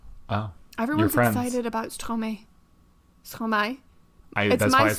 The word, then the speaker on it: Stromae: Stromae.